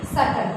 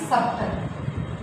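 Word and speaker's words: subtle: SUBTL, इसको हम क्या पढ़ेंगे सटल, ना कि सबटल। बी हमारा क्या हो गया यहाँ पे साइलेंट, तो ये क्या हो गया हमारा सटल।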